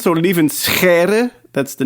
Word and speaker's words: Lieven: So leave in that's the name. It's the typical sound in Dutch.